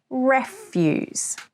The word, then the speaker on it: refuse: Note the stress, refuse. The stress is on the first syllable with a short E sound, eh. This is very important because if you put the stress on the second syllable with a long E sound, it becomes a word with a totally different meaning.